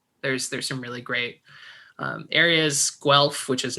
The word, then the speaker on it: Guelph: So they have Guelph is Guelph. Well, Yeah, except if I spelt it for you, you'd be like, that's not how you say it.